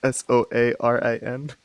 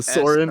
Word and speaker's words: Soarin: I would like to suggest a pronunciation or a spelling instead of like just Oranberry. It's Soarin. It's a Soren. S-O-A. Oh, Lord. R-I-N. Oh.